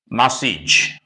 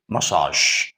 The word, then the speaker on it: massage: do not pronounce it massage no not that it is massage why because this word originates in French therefore it should not follow that English rule the last three letters